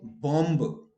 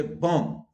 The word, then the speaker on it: bomb: Where B is silent, bomb, aplomb, you don't say bomb. Okay, you say bomb.